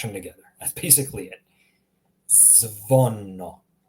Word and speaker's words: zvono: Oh, the second example here, zvono. Zvono, meaning bell. Zvono. Notice how I'm just smashing all the letters together.